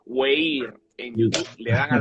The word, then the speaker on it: Weir: en YouTube, y también Anthony Weir, que se pronuncia Weir en YouTube, le dan a la campanita y ahí estamos para servirles.